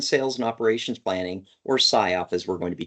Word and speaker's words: SIOP: So you are pronouncing it correctly. So SIOP, and that stands for Sales, Inventory, and Operations Planning, oftentimes referred to as Sales and Operations Planning.